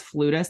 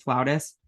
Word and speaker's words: flautist: It says flutist. I thought you pronounced it flautist.